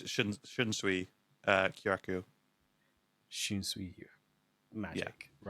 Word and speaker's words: Shunsui Kyoraku: I'm just trying to get the pronunciation because I honestly can never remember how to pronounce it. I always remember Ukitake. Mm-hmm. His first it's Shunsui Kyoraku.